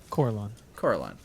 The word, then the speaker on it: Corellon: How do you pronounce it? Corellon.